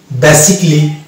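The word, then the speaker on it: basically: Silent পাবো এবং এগুলোকে আমরা এ সাইলেন্ট ধরে উচ্চারণ করতে হবে। যেমন এটা হচ্ছে মিউজিকলি, লজিকলি, ফিজিক্যালি, অটোমেটিকলি, সার্জিক্যালি, বেসিকলি, রোমান্টিক্যালি, ক্রিটিক্যালি, নট ক্রিটিক্যালি, ক্রিটিক্যালি।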